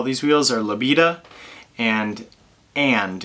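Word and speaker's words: Aend: The 2 factories that make all these wheels are Labita and And. It's A-E-N-D, pronounced and.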